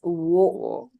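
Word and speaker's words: を: va okay next is it says o over here but for now I would like you all to actually make a correction and make this wo I will get back to this Ka in our later lessons but right now I would like you all to remember this kind of practice pronouncing it as wo there will be a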